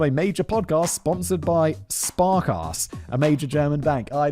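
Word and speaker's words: Sparkasse: was featured on a major podcast sponsored by spark ass a major German bank I know spark ass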